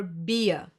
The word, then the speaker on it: Bier: I-E will be pronounced like a long, slow E, like for example in cheese.